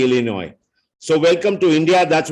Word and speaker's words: Illinois: when uh you know people pronounce s in the Illinois so welcome to India